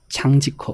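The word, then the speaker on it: 张继科: 장지커. 장지커입니다. 아, 예, 발음 잘하셔야 돼요.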